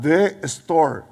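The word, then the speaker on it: El Estor: yendo para Puerto Barrios toda la gente dice el Store pero no es en realidad el Store se escribe así el la ciudad estor yaval literalmente se escribe así pero no se debiera escribir así porque es en inglés y se llama the Store the Store porque los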